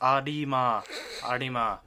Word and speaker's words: Arima: First, Arima, seriously, pronunciation, it's Arima.